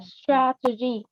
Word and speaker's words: strategy: Nếu mà danh từ nó đọc là strategy thì đúng là âm e bẹt, đúng không ạ?